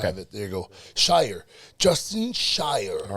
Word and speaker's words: Shier: mean most people mess up and say Justin sheer just like you did but oh my God